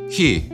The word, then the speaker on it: hi: him with now it's he yes it looks like the english hi but it's pronounced differently and it's not the